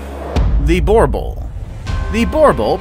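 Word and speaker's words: Boerboel: The Borbul, pronounced Borbul, is a large guardian dog which is also known as the South African Mastiff.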